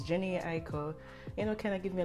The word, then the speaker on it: Jhené Aiko: I would listen to, I don't want to pronounce her name wrong, Jhené Aiko. I'll put her name right here. It's Jhené Aiko.